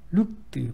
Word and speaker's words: looked: Looked, 발음이 뜨 소리 나는 looked.